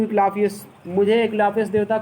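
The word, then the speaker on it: Asclepius: आई ओ A clock to इक्लाफियस, मुझे इक्लाफियस देवता को ऋण है, एक वो मैंने ऋणी हूँ। इक्लाफियस ये देवता का नाम है, यस साइलेंट है, ए ई से बड़ी ई बनेगा।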